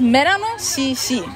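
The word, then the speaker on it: Melano CC: This is Merano CC. Ah, Merano CC. Yes. Ooh, like melanin CC kind of?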